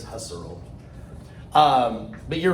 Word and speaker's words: Husserl: with the name husserl who's cyril i think is how you're supposed to say who's earl but everybody says husserl um but you're right